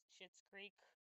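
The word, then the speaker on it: Schitt's Creek: I love how it's it's spelled S C H I T, but it's called Yeah. Shitz Creek.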